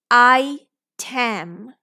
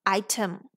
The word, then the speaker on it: item: this o is schwa I Tam I Tam or I team both don't sound right so let's try it with schwa item item making sense good album